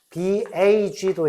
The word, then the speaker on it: bag: BAG도 있고 BACK 같은 것도 있습니다. 그죠? 그러면 이 경우에 영어는 유성음이야. 그래서 발음은 뭐 비슷한데 bag 이렇게 되죠.